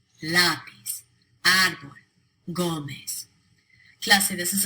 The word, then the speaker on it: lápiz: All 4 of those words end in a consonant other than N or S. They should be pronounced with the stress on the last syllable, but they're not.